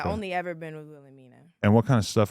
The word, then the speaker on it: Wilhelmina: Wilhelmina. Wilhelmina.